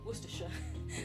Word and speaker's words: Worcestershire: uk as a canadian is knowing how to pronounce worcestershire worcestershire sorry for some reason i read that as